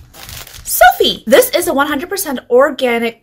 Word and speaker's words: Sofy: it's really soft or is it sophie like the name so it's sophie and there's three different